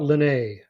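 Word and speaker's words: Liné: spelled line like a line in the sand a closed line something like that or might want to think let's put an accent on this and pronounce it Len but Helga Len stern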